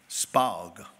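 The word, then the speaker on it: Spaag: How you pronounce that last name? S-P-A-A-G. Spog.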